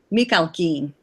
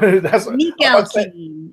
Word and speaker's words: Mikhalkin: between him and I'm going to try to pronounce this guy's name. Oh, and by the way, I've got it. It's Igor Mikhalkin. That's what Mikhalkin.